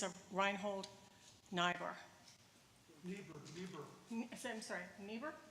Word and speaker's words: Niebuhr: I'm sorry, Niebuhr? Niebuhr, thank you.